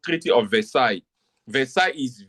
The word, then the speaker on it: Versailles: So the treaty is called treaty of Versailles. Versa is V. I'm I'm pronouncing it in French.